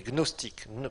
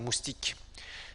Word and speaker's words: gnostique: le numéro 1 les gnostiques gnostiques ça s'écrit Gnos des gnostique numéro 1 Gnos tiqûes gnostique la face est comme moustique mais là c'est gnostique c'est pas moustique Gnos t I Q